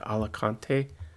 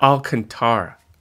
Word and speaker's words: Alcantara: cups it's the Okay so I always mess up the pron pronunciation of that the alante alak is that how you say it alak Al alantara Alcantara that's how you say